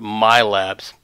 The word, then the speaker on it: MILABs: name stuck right and depending on where you're from and how you pronounce it milabs I'm from California mostly so we have the long vow sound my labs and back then we